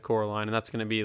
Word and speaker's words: Coraline: get her name wrong they're gonna say Caroline instead of Coraline and that's gonna be